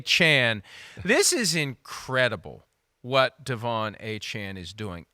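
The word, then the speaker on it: Achane: Bengals they needed that when I first heard the pronunciation of Devon achain in the preseason I could hear Chris Burman saying Devon Take the A Train achain well now it's aan so it's take the a Chan this is incredible what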